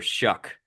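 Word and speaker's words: Shough: to remember about Tyler shuck is his last name rhymes with suck but it's three years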